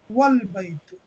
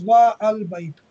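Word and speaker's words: وَالْبَيْتُ: Alif is pronounced, but if it is preceded by wa, meaning at, the Alif is dropped and the phrase is pronounced as Wal baytu. So yeah, Wal baytu, not as wa al baytu.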